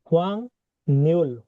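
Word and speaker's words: 확률: এটা হচ্ছে হোয়াং নিউল, হোয়াং নিউল। এই যে গিয়কের উপর ইউথ। নিয়ন অথবা রিউল থাকলে গিয়কটা ইয়ং এর মতো উচ্চারণ হয়, ঠিক আছে?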